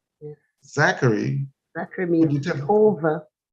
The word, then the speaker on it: Zachary: and I mean, want to make sure I pronounce his name, Zachary.